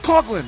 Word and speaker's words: Coughlin: It's Coughlin.